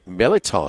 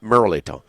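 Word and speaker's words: mirliton: Appetizer features today here at Ruffino's is the shrimp cocktail with the Meliton slaw. The cocktail is not Merliton. Well, I say it like my grandmother.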